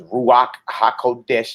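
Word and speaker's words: רוח הקודש: down his Holy Spirit his ruach ha'qodesh that's how you say it in Hebrew to living us for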